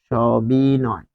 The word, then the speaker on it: সবিনয়: সবিনয়, সবিনয়, এটি হবে সবিনয়। তাহলে দন্ত স এর উচ্চারণ হয় তালব্য স এর মতো, তাই এখানে স হয়েছে।